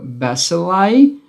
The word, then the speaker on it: bacilli: Bacillus and bacilli, tá? Aqui toma cuidado que a pronúncia é diferente. Bacillus, bacilli, tá? Então, a forma plural fica bacilli.